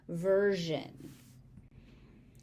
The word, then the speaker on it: version: So S here is pronounced with a Z sound. It's pronounced as a Z instead of an S. Version.